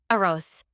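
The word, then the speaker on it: arroz: Roll that R if you can, listeners. See, the double R is important. A ros.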